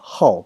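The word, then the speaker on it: 好: would be AI how this is not how anymore is actually now change this pronunciation in this word to how the fourth tone and I how is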